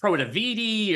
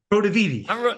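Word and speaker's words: Protiviti: It was like Providi or whatever. And I didn't care what they called it. It's Italian, Proteiviti, right?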